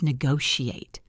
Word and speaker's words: negotiate: And finally, the word negotiate. It has a sh sound in the middle.